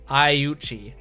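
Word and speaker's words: Aiuchi: I should pronounce it like you pronounce a Japanese word. Ayuchi. Rina Ayuchi.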